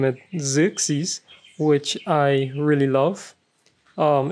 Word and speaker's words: Xerxes: that i name it xerxes which i really love um it means uh ruler of heroes and it's pronounced with a z like my name and stuff so i